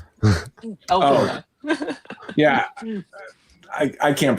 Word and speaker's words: Elphaba: We gotta talk about that pronunciation. Elphaba.